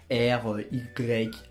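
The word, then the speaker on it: Rayan: Je m'appelle Ryan, et non, pour la plupart des personnes qui vont me dire que mon prénom Ryan s'écrit avec R-Y-A-N.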